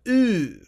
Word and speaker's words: Ø: really need audio but if you listen to it o it sounds ooh all right right so that's the actual pronunciation now again I'm not